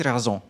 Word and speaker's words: raison: Okay, so vous aviez raison. Yes. Vous aviez raison. Raison. Raison. Raison. Okay, and that's spelled R-A-I-S-O-N. Yes. A bit like raisin.